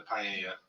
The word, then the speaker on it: paella: You get a paella. Yeah, I know that spelling looks weird. You Brook's probably like, "What in the world?" That's not a pa. But that is how it's pronounced.